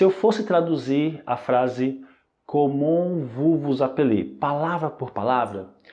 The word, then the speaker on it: comment: letra T Só que essa letra t ela é muda Ok portanto a pronúncia é comum comum em seguida nós temos